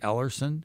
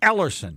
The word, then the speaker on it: Ellerson: uh can I just you got to pronounce my name last name all the way through because if you don't people think I'm somebody else didn't I say ellerson no you you stop at the e l l e r